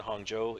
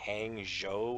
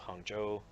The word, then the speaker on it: Hangzhou: live down here in Hangzhou if you were to read that probably just as an English speaker you probably read it as like hangjo or something yeah I mean if